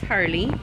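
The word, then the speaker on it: Harleigh: Anyway, so her name is Harley, and it's spelled H-A-R-L-E-I-G-H.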